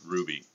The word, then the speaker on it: Rubby: De Rosa rubby see his name is spelled rubby but it's pronounced Ruby I like to call